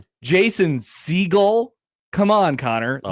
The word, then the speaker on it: Segel: Jason Segel. Come on, Connor. Oh. This man is not an oceanic bird. It's pronounced famously Oh seagull.